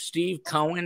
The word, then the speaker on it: Steve Cohen: The secret sauce rhymes with Meve Moen. His name is Steve Cohen.